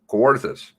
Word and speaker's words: Kawarthas: name because i've been there i know it kawarthas you lost 10 pounds nor no air conditioning in the kawarthas there's lots of lakes nearby though and it's 10 30.